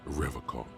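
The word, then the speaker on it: Revachol: He pronounces Revacol with a hard K, unlike other people. Yeah, let's follow up on that rhetoric. I like to pronounce it the hard way, the old way, the Vespertine way.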